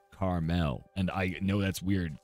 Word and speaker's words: Carmel: I live called Carmel it's not Carl and it's not caramel it's Carmel and I know that's